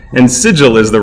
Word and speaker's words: sigil: sons of fenor saying thou Shan call it cibil neither shall you call it signal and sigil is the right out thus it shall forever